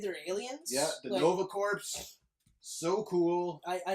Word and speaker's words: Corps: Yeah, the Nova Corps, so cool. I say Corps. Corps? Because it's Marine Corps, you know? It's the Green Lantern Corps. It's not corpse.